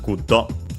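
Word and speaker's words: グッド: Guddo from English, good. Lucky accent just like in English. So on the first syllable, guddo, and then ja, of course.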